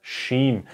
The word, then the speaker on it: Shin: the material section so this is called the Sheen and how to pronounce it like in shy I'm shy okay it's the same pronunciation it's not so hard like the s h sound like in shy or the sun is shining okay and then there's uh